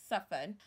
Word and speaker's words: soften: It is soften.